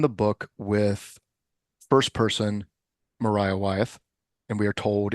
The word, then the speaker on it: Maria: book with first person Mariah WTH and we are told in her narration that her name is pronounced Mariah even though it is clearly spelled Maria I I won't go